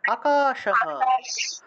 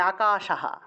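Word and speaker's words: আকাশঃ: আছে তাহলে রেখা হাক্ষেত্রে আমি যেহেতু সেই ক্ষেত্রে আমি উচ্চারণ করব মম নাম আকাশহ আকাশ হ উচ্চারণ করব হ পূর্ণরূপে হ উচ্চারণ হবে আর যদি এখানে আকাশা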